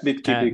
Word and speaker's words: Bitkipi: And today we are interviewing from Bitcoin startup Bitkipi. I think that's how you say it. Bitkipi. Yeah, Bitkipi, correct.